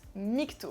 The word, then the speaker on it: MGTOW: Déjà, ça se prononce "migto", ça signifie "men going their own way", c'est à dire les hommes qui suivent leur propre voie.